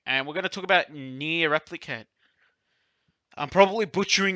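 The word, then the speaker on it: NieR Replicant: Okay, and we're gonna talk about Near Replicant. I'm probably butchering its name. I don't think it's pronounced Near Replicant, but like we'll go with that. No, it is pronounced like that.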